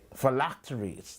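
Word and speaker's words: phylacteries: Uh, how do you pronounce the word, producer? P H Y L A C T E. felacttories. Thank you for They make their felactories wide and the tassels on their garments long.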